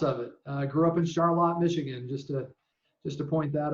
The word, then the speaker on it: Charlotte: Grew up in Charlotte, Michigan, just to point that out. Charlotte, spelled just like Charlotte, but for whatever reason, we don't pronounce it that way.